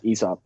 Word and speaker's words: Aesop: it help me out is it aeo soap how do you say it it's esop esop all right i've never